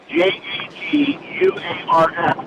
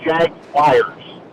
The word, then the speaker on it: Jaguars: say it properly well there's no wire you don't say wire it's Jaguar they're Jaguars Jag Jaguars